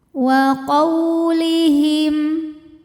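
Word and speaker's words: وَقَوْلِهِمْ: Cara membacanya cukup kita lembutkan atau kita lunakan. Wa qaulihim.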